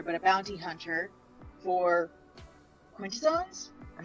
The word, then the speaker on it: Quintessons: The third party, not on one side or the other, but a bounty hunter for Quintessons?